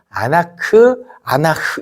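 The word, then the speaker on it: אנח: 그런데 애곡하다라는 이 히브리어 또 단어가 있는데 아나흐 이렇게 발음되는 게 있습니다.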